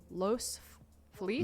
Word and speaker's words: Los Feliz: in uh i will say it correctly los los feliz los feliz los police uh it's a really